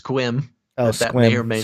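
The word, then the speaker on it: Sequim: chat that uh a it's pronounced squim oh that way you're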